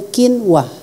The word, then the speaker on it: quinoa: Nulisnya quinoa, tapi bacanya quinoa.